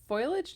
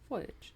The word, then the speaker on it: foliage: confusing her with trying and so she their foilage does kind of just sound like you're rushing the the pronunciation of Fage foliage foliage fo foilage and also like even people